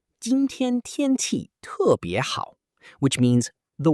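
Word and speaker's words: 天气: The first word is tiānqì, pronounced tiānqì, which means weather.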